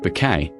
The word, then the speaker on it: Bucket: At the centre of it all was Hyacinth Bucket, always pronounced Bouquet, whose tireless efforts to project upper-class perfection were constantly undone by her down-to-earth family.